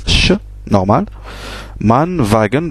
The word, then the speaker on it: Wagen: prononce ch, normal, Mann, Wagen, bien sûr on a vu que W se prononçait V, Wagen, etc.